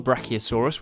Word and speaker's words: Brachiosaurus: Do you know how tall a Brachiosaurus was?